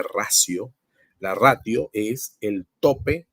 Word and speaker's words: ratio: ver en alguna literatura el término ratio con t eso en latín se pronuncia racio la ratio es el